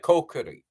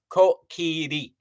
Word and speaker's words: Kokiri: So with names translated, you pronounce it the Romaji way. Like Kokiri. Everybody's like Kokiri, the Kokiri children. No, no, no. Kokiri. Goron. Zora. Hirian. That's how you'd say it.